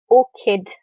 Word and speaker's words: orchid: tree cactus and an orchid and listen to the word pronounce this so or kid so the CH sound here is similar to the K sound in English and also I think